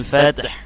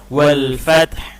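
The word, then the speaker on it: وَالْفَتْحُ: Dan ini nasrullahi wal fath, jangan fat aja, ya, tapi hanya harus dibunyikan juga di ujungnya, wal fath.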